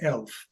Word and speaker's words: ELF: Well, when I became interested in English as a lingua franca, or ELF, so I will pronounce it ELF.